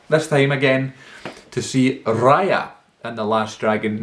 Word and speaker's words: Raya: to go back, this time again, to see Raya and the Last Dragon, not Raya as I had been pronouncing it the whole time.